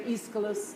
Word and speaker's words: Aeschylus: The British say potato, just as the British say Aeschylus and Oedipus.